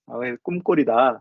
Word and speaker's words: ccumgol: 미국 사람들한테 CCUMGOL 그럼 꿈꼴이라고 안 읽죠. 저는 이거를 꿈꼴이라고 그냥 우겨요. C는 K다. K 발음을 낸다. 꿈꼴이다.